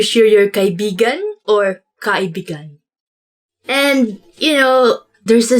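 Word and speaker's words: kaibigan: this word because like you have to say it like this kai began because means friend but when you twist it a bit and say it like this that's kind of it's not really a natural way of saying it but it actually means lover so like when you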